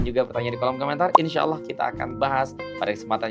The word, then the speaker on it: insya Allah: Insya Allah. Nah, tuh bukan insyaallah. Insyaallah. Nah, tidak ya. Tapi insya Allah.